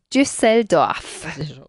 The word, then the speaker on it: Düsseldorf: Sí, en alemán se pronuncia Düsseldorf.